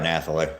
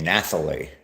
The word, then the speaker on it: Nathalie: Everybody pronounces it like I do my granddaughter Natalie. Okay. It's just spelled differently.